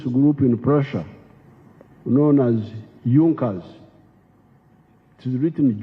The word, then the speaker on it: Junkers: However, there was a strong business group in Prussia known as Junkers. It is written Junkers, but they pronounce it Junkers, that saw the importance of a united German market.